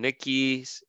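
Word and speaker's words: Wernicke's: okay that is though we're in Nikki's area that's how you pronounce it or Nikki's area right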